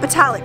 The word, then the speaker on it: Botallack: We got Botallack, right? That's how you say it, but it's Levant or Levant.